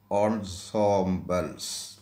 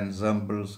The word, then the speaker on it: ensembles: എൻസാമ്പിൾ എന്നാണ് എഴുതുന്നതെങ്കിൽ അത് വായിക്കേണ്ടത് ഓൺസോംബൽസ്. ഓൺസോംബൽസ്. സാറിന് എൻസാമ്പിൾസ് എന്നാണ് പറയുന്നത്, അങ്ങനെയല്ല എൻ്റെ ഉച്ചാരണം.